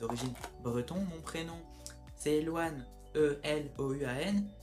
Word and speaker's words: Elouan: Mon prénom c'est Elouane, E-L-O-U-A-N, qui se prononce Elouan mais qui se dit Elouane, c'est d'origine breton.